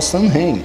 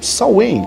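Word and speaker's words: Samhain: celta comemorava o festival são vêem ou sal em que a forma mais correta de se pronunciar esse nome significa literalmente fim do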